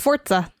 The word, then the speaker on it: Forza: It's Forza, like fort. Thank you. All right. I'm not having that. I'm calling it Forza.